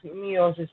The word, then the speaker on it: meiosis: Ma'am, it is written as meiosis, not meiosis. Yes. Meiosis, we say mitosis and meiosis. E is silent in meiosis.